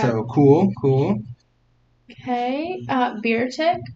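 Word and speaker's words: Beartic: cool cool okay uh beer tick bear attack bear Arctic bear bear tick no just bear two syllables you never know you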